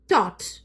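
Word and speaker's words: taught: അല്ലേ എന്നിട്ട് വായ വായിക്കുന്നതോ ടോട്ട് ടോട്ട് എന്ന് പറയുന്ന സമയത്ത് നമ്മൾത് എന്താണ് അതിന്റെ ഉച്ചാരണത്തിന്റെ ഇത് എടുത്തു നോക്കുകയാണെങ്കിൽ ജസ്റ്റ് നാല് ലെറ്റേഴ്സ് ഉണ്ടാവുള്ളൂ ആ ഉച്ചാരണം കാണിക്കാൻ വേണ്ടിയിട്ട് പക്ഷേ ഇതിൽ ഇത്രമാതിരി ലെറ്റേഴ്സ് അല്ലേ പക്ഷേ ഒന്നും ചെയ്യാൻ പറ്റില്ല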